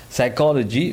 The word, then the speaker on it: psychology: psychologies one of them psychology which is the study of mind and how does it work it starts with a P but the P is silent as you know so